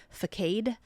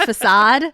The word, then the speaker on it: facade: like a teenager but I said fade instead of facade because I'd read it like well it's kind of a fade if you I know I knew what it was but I didn't know how to say it and the person just looked